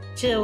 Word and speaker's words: Gil: It's like the human urge to just harass Gil a little bit. Everyone needs a Gil, or I guess his name is pronounced Jill, isn't it? 'Cause it's the same as Jill with a J.